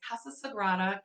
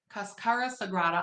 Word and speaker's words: cascara sagrada: the comfort tone is casa sagrada asakara no cascara sagrada i always pronounce it weird you do you it's